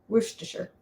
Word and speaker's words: Worcestershire: the city but um when it's in a word like the sauce it's kind of sure so sure worcestershire um we used to